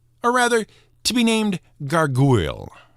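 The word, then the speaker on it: gargouille: named a gargoyle or rather to be named garu it's pronounced the same but spelled g a r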